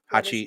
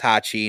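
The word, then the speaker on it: 八: Hachi. Hachi is the is is the number eight in Japanese. It's how you pronounce it.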